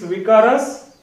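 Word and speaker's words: Vicarius: So for me it's Vikaras. Vikaras.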